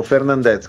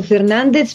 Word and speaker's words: Fernandez: O Fernandez, com'è il, dove cade l'accento esatto? Io ho sempre detto Fernandez perché è una pronuncia istintiva popolare che non ha niente a che vedere con lo spagnolo.